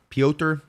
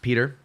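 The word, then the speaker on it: Piotr: deserved it uh uh Peter is it just pronounced Peter p-i-o-t-r pioter I'm pretty I'm I'm assuming it's just pronounced Peter says it was a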